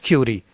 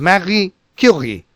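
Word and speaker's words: Marie Curie: is it is not R so R is pronounced in the gutal sound marii it is not Mar it is not curi it is Mari Ki so here is uh small bio which you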